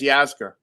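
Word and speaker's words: Yasgur: old dairy farmer and i don't know if i say his name correctly it's mack yasker yeah it's yazka yep yes okay mac 49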